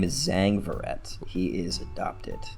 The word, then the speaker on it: Zhang: brother for Jose ferret um his name is Zang verret he is adopted Zhang is spelled z-h-a-n-g he's the older adopted brother that's